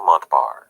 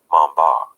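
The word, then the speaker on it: Montbars: was French after all his last name was pronounced something a little closer to Mamba but in the interest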